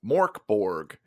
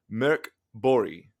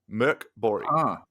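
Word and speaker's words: Mörk Borg: This is called uh for Americans it's Morborg. For uh those that can pronounce it, it's called Mirk Bori. Murk Bori.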